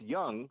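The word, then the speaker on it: Jung: the name of it is j u n g which is pronounced young yeah K A K young Co yep there you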